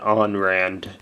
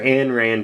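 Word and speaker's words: Ayn Rand: guard dragon cataclysm now most people could say oh you gotta pronounce it on rand because she was russian well she is a russian american she uh became an american so um calling her anne rand is more proper technically uh gladiator beast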